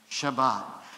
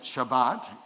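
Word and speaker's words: שבת: We call it Shabbat. Say that with me, Shabbat. And that's how it's said in Hebrew.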